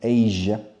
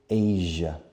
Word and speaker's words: Asia: Asia. Fijaos en la pronunciación. Asia. It's a sound that you don't have in Spanish. It's like the French sound.